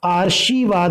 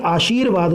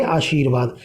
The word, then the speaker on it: आशीर्वाद: आशीर्वाद, कई लोग इसको आशीर्वाद बोल देते हैं, यानी कि शय में ही लगा देते हैं रे को, जो कि रॉन्ग होता है। ये आशीर्वाद होता है, यानी शय वर्ण के जस्ट बाद इसका उच्चारण करेंगे आशीर्वाद।